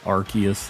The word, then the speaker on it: Arceus: anybody was dodging that um archaeus Arceus Arceus is how most people say it right that little shiny